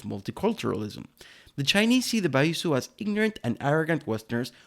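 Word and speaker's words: 白左: It's called baizu, or how they like to pronounce it, baizu.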